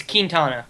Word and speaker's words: Quintana: la cuenta in it's it's like la quinta well we're in america well yeah but okay so i'm with leone on that one it's quintana yeah can you pull